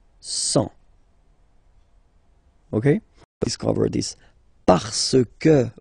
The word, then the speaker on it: cent: Remember, final T, not pronounced. 100.